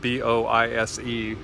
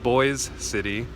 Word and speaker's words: Boise City: City it's it's spelled Bo ISE it's not pronounced Boise it's pronounced Boyz City Oklahoma let me go in